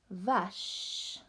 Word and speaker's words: vache: Vache.